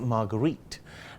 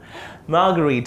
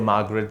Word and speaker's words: Marguerite: show thanks for having how many people get your name wrong like me most yeah obviously yeah because Sri Lanka is used to a Margaret than a margarita or a margarita yeah like the drink I was here on